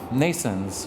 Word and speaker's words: NNAISENSE: is going to change we have a company Nason's which is pronounced like nasons birth in english but spelled